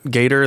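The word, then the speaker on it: Gaider: you you would have already brought up David Gator Gator that's how you pronounce his name uh David Gator's comments but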